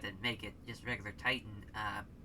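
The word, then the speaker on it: Titán: funky 3k i mean titan or d-10 if you want to pronounce it how it's uh how it is as far as it's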